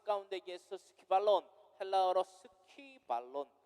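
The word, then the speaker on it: σκύβαλον: 이 말씀이요 오늘날 우리들의 삶 가운데에서 스키발론, 헬라어로 스키발론, 스키가 아니라 스퀴, 쿠에다가 이 발음, 그죠?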